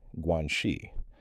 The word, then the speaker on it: guanxi: There's a concept in Chinese culture called guanxi, pronounced guanxi, and it roughly translates to relationships or connections.